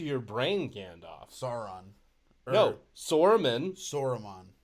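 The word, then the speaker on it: Saruman: brain gandalf sauron no soreman yes wait sore is that how you say his name yeah s-a-r-u-m-a-n yeah this weed is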